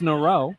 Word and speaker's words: Nero: I was completely wrong. It's Nero.